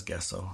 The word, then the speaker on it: gesso: It says gesso. But it's pronounced gesso, honey. Well, maybe this will use a J.